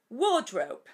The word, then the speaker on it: wardrobe: yo digo y larga ya que la r en inglés standar no se pronuncia Así que es War War Drop Drop Drop recordad que para pronunciar